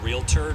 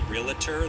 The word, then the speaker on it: realtor: a house, you're talking to a realtor, not a realtor, though mispronouncing it is your prerogative, but not your prerogative, because that's not right.